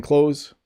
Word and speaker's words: clothes: thank you i'm wearing clothes right now we pronounce it without really saying the th okay i'm wearing clothes i need to wash